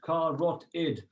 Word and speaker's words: carotid: know i don't want to confuse people so car rot it car rot id side of the neck okay next one brachial